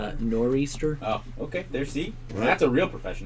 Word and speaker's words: nor'easter: show say not even what do you say northeaster yeah I believe it's pronounced nor'easter okay that's a real